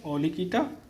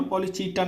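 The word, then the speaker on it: Polychaeta: पॉलीकीटा, उच्चारण सही होना, पॉलीचीटा नहीं है, कीटा बोलेंगे।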